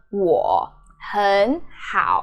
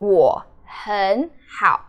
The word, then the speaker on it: 我很好: So you change the first third tone, which is 很. So 我很好, 我很好. That's how you say it, and it's a very classic example of many third tones are together.